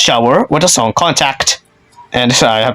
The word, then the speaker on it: SHWR: It's now been silenced as SHWR but still pronounced Shower with the song Contact.